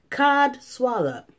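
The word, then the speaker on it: codswallop: Cod swallop. That don't even sound right. That sounds like a made-up word. Those are the best words that sound like a made-up word. Yeah. And it's spelled C-O-D-S-W-A-L-L-O-P.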